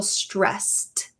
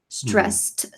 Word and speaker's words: stressed: to say I feel stressed stressed so make sure that when you say stress there's like a a T sound at the end I feel stressed when